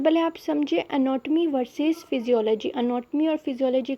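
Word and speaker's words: physiology: ये फिजियोलॉजी को किस तरह पढ़ेंगे, इसमें पी एस साइलेंट होता है।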